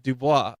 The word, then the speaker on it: Dubois: And she says, "You mean Dubois?" And I looked, and then I kind of looked at her, and she's like, "It's pronounced Dubois."